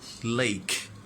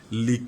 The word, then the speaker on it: lake: দেখবা টেম্পোতে Faiz লিক, লিক না কি উচ্চারণ লেক, লিক মানে হচ্ছে চাটা, হ্যাঁ যেমন দ্য ডগ ইজ লিকিং the road লাইক that, it's wrong one, ইটস নট লিক ইটস লেক, হ্রদ, তাহলে এটা উপহ্রদ,